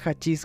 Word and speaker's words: hachís: Con respecto al término hachís o hachís, se pronuncia hachís con una J, pero se escribe primero una H ahí, e inicia con una H.